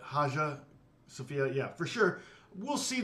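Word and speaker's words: Hagia Sophia: how do you say it's it's spelled hagya but haa sopia yeah for sure we'll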